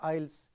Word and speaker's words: isles: not say IELTS right s is silent so the river oils are hunted by the diaconic means visited frequently visited many times they visit so who visit the river Isles many times frequently let